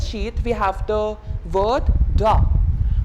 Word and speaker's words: drap: So sheets or the bed sheet, we have the word drap. Like its pronunciation will be like DHRA, drap. Not like drapes, not like drapes, it will be drap.